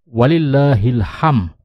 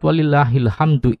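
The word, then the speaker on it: وَلِلّٰهِ الْحَمْدُ: muqaddam mubtadamu ahor sementara kekeliruan yang sangat umum terjadi orang mengucapkan kalimat ini bukan Walillah akan tetapi walillahilham yang memiliki arti sangat jauh melenceng dari maksud sebenarnya yakni bagi Allah Ilham ini kesalahan yang sangat fatal dan tidak boleh terjadi Allahu Akbar sementara cara mengucapkan kalimat yang benar adalah jika kalimat walillahilhamdu ini kita waqafkan maka cara membacanya adalah dengan Nun sukunkan huruf terakhir kalimat walillahilhamdu tersebut yaitu Dal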